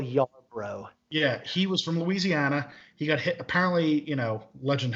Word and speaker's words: Louisiana: It's not Louisiana. I pronounce it wrong. It's Louisiana. Thank you for that.